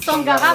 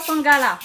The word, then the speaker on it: Sangara: Monsieur Sangara, il explique pourquoi il dit Sangara, pas Sangala. Ah bon, pourquoi il les connaît où? Tamoul, Moi, tu connais pas M. Sangala direct? Ce mot-là, Tamoul, il dit Sangara. Le R est prononcé comme si tu fais maintenant. Ah, Ra. Donc, Sangara.